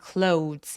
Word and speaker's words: clothes: 그리고 clothes 아니고 clothes 오우라고 꼭 소리를 내주시고요. clothes 아니에요. 그냥 clothes. 마치 디귿 받침으로 th를 처리하고 clothes. ts로 끝나는 것처럼 요거 이름절자리 발음입니다. 내 눈에 아무리 o와 e 모음이 두 개가 보인다고 하더라도 clothes라고 하지 않아요. clothes라고 이름절로 발음해 주시면 됩니다.